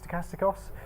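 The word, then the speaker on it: στοχαστικός: I heard someone pronounce it. I wasn't going to dare. But is it stochastikos?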